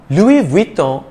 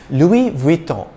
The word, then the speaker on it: Louis Vuitton: spanish pronunciation balenciaga anymore louis vuitton is one of the world's leading fashion houses the s is silent in the first name louis and just as in